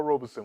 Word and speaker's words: Robeson: slip a couple times the actual pronunciation of his name is Robeson Robeson like robe son but when it comes